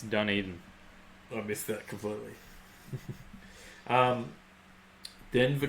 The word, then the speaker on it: Dunedin: Oh, and I've pronounced it wrong. Mad Kiwi says it's Dunedin.